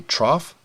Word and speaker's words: trough: same way for example if I just took the T off then this word would be pronounced rough if I got rid of the R that would be pronounced tough so that idea of